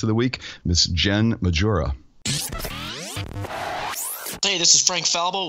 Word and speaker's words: Majura: I love the best pronunciation of my name that actually takes place in Spain, because then my name is Jen Majura.